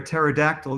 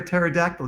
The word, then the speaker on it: pterodactyl: can't you hear a pterodactyl go to the bathroom why can't you hear a pterodactyl go to the bathroom because the p is silent i love that joke